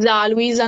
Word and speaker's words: Luiza: pronuncia Luisa normale come Ah, si possa normale.